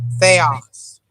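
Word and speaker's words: θεός: So you got they, and then you what sound does this make? Ah. And this? Is it S, like Oz? Yes. So put it all together and pronounce that word.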